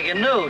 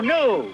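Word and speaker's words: gnu: or something and a ganoe too what Gano it's G and you new the g is silent there's one thing you've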